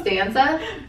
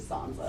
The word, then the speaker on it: Sansa: Stanza. Sansa. What? Sansa. It's actually Sansa.